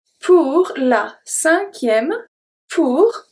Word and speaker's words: cinquième: Pour la cinquième. Pour. Pronounce everything. La. We good. Cinquième. Cinquième. So here, the U after Q is silent. The E at the end is silent as well.